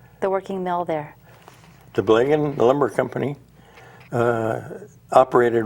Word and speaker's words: Blagan: Now, looking at your book here, the Blagan or Blagen, how do you pronounce it?